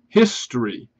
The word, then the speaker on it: history: However, you can see and compare this with a word like history, that we do pronounce the H. We say history.